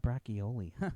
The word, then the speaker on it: braciole: So like, when I get in the kitchen, I'll be making the braciole, right? Okay, braciole. I always pronounce that braccioli.